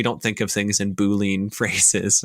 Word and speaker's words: Boolean: Like we don't think of things in Boolean phrases, right? Am I saying that right? Is it Boolean? Boolean. Oh, Boolean, my bad.